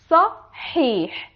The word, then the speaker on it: صحيح: Pay attention to these two letters. Let's pronounce the word together. Sahih. Here we have sa and ha, ya, and again another ha. So you have to pay attention that in this word we have two ha.